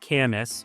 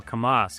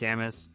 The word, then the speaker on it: Camas: And it's pronounced Camis. A lot of people will go kamas, kamas. No, it's it's definitely Camas.